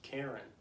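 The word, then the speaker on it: Karrin: the books but that's it's k-a-r-r-i-n but it's karen it's not hard to pronounce it's not like weird to say just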